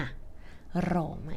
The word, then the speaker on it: Roma: คะ ว่า ชื่อ โรม แต่ จริง ๆ ชาว อิตาเลียน เรียก ว่า โรม มา โรมะ อย่า ลืม ออก เสียง ตัว แอ ให้ ชัด ๆ นะ คะ โรมะ เหมือง ที่ 2 ก็